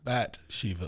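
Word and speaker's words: Bat Sheva: That's how it's pronounced. Bat Shiva.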